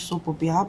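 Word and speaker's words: soap opera: nous allons découvrir unepression qui se prononce SOP Opera pour dire en français feuilleton en anglais SOP Opera désigne une série télévisée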